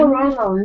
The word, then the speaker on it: NaNoWriMo: NaNoWriMo? Yeah. NaNoWriMo, National Novel Writing Month.